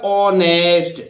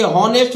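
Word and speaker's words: honest: है, इस ओ के कारण इस एच का उच्चारण नहीं होगा, इसलिए कैसे बोलिएगा, ऑनेस्ट, और ऑनेस्ट आप जानते हैं ईमानदार।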